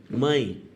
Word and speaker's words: mãe: Mãe, vogal e semivogal. Repara que mãe tem E, mas esse E é pronunciado igual ao I, mãe.